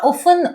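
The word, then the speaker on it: often: They are ऑफन ऑफ़ देखिए इसको ऑफटन नहीं बोला जाता। इसमें टी साइलेंट रहता है। सो वी be called ऑफन।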